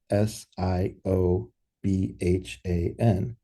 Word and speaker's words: Siobhan: So, we have this client meeting and we meet with somebody named S I O B Han Siobhan.